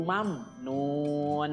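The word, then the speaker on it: ممنون: Mim sukun bertemu dengan huruf na, ya. Di situ juga sama, mimnya harus dibaca jelas, ya. Namanya idhar syafawi. Mam, nun tidak boleh dibaca pantul, ya. Mam tidak boleh, ya. Tapi mam, nun.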